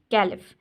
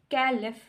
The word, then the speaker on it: caliph: अब देखें इधर वाज सेकंड कैलिफ। अब कैलिफ में देखिए PH, इसको हाईलाइट किया हुआ है। अब PH जो बच्चों देखें, ये एक कैलिफ फा वाली साउंड बन